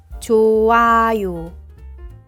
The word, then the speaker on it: 좋아요: For the final consonant here, there is no pronunciation and should be silent. 좋아요, 좋아요.